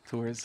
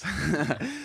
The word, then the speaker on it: Tours: Tours. Tours. So, like, just like Coors Light or something, you know? It's Yeah. like Tours Light.